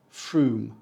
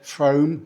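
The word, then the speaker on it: Frome: the long o sound it should say trome it doesn't this town name correctly pronounced is fr it is not said from and it is not said from you are not from from you are from FR which is a bit of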